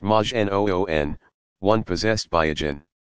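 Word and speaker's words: majnun: not a prophet but just another Magi none pronounced Majin oon one possessed by a jinn to call someone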